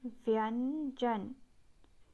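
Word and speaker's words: व्यंजन: In Hindi, consonant is said as vyanjan. I repeat, it is pronounced as vyanjan.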